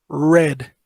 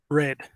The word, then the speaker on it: read: Se pronuncia como el color. Red.